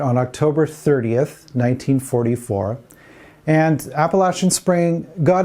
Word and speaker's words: Appalachian: title of this concert is it appalachian spring or appalachian spring apparently a lot of the people who live in that region pronounce it appalachian this is supposedly a big deal anyway the musicians of